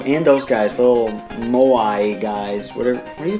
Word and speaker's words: Moai: How do you pronounce that? Moai. That's how you pronounce it in Japanese. Because, you know, they have one sound per syllable, so very easy.